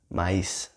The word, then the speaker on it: maíz: and several Spanish accents, you would hear maíz, s. Okay, the S sound instead of the th sound, right? Both are fine. In my accent is maíz, but in several accents, especially in Central America and South America, it would be maíz, right?